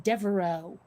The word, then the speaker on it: Devereaux: mean i'm sorry but there should not be an x in devereaux that makes no kind of sense whatsoever i mean i can't